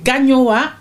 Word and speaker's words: Gagnoa: Gana amuku gamia ameyuku non non non c'est pas gamia c'est ganyowa ameyuku d'accord ganyowa ameyuku oui